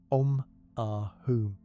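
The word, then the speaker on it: Om Ah Hum: The syllables are pronounced with long vowel sounds. Om, Ah, Hum, with each sound resonating fully before moving to the next.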